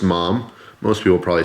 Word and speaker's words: MAM: Portugal this is a mom knife it's spelled ma a.m. but I watched a video from the owner who pronounced it mom so we'll go with that got this from another